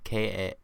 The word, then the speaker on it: Kaluuya: Kaluuya? Kaluuya. Yeah, it's Kaluuya. That's how you spell it.